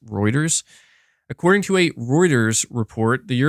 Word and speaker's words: Reuters: I kept calling him Reuters, but it's actually pronounced Reuters.